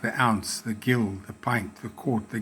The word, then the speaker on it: gill: The gill. The origin was from the medieval Britain, Middle Ages. The word gill, pronounced Gill, comes from the Old French gilli, meaning a measure of serving liquid.